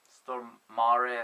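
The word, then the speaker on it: Stormare: played by my Countryman Peter stor or Peter stor stor Mar some Yankees pronounce it he made it abundantly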